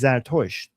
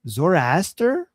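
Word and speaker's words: Zoroaster: to like, you know, how they pronounce our prophet like Zartosh in English. I can't even pronounce that. Um, we call the prophet of Zorianism is Zartosh. But Zoraster, is that how they say it in English?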